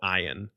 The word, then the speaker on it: ayin: that's a vowel sound, you have a silent letter. So there are two silent letters in Hebrew. And so I was like, well, I'll start with this one, which is called ayin.